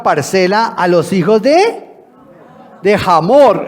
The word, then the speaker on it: Hamor: En el original es Amor, con H, pero este de Amor tenía poco. Amor, pero obviamente la nueva versión hace la traducción de esa manera para decirnos cómo se pronuncia, Hamor, ¿no?